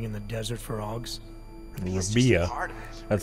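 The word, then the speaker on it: Rabi'ah: Rabia.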